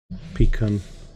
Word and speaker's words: pecan: Pecan, rhyming with recon.